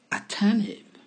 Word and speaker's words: attentive: Attentive, attentive, prévenant, attentif. On n'entend pas vraiment le T dans cette prononciation. On entend juste attentive.